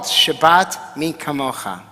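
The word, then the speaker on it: Shabbat Mi Kamocha: read and it's called Shabbat me kamoha and I say it like that because the cuff is with the dagesh meaning that it's me and it was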